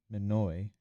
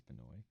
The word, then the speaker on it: Benoit: And one of the notable athletes in that division is Joan Manoi. I don't know if I'm pronouncing that right. I think it's Canoy.